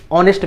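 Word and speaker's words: honest: जैसे यहाँ पे बहुत सारे लोग इसको हॉनेस्ट मैन पढ़ते हैं, हॉनेस्ट हाँ आ रहा है, लेकिन आप हॉनेस्ट नहीं पढ़ेंगे फ्रेंड्स, आप यहाँ पे ऑनेस्ट मैन पढ़ेंगे, ठीक है, ऑनेस्ट पढ़ेंगे, ऑनेस्ट।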